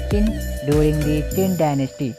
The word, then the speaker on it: Qin: The most famous wall was built between 226-220 BC by the first emperor of China, Qin Shi Huang, Qin pronounced as Qin, during the Qin dynasty.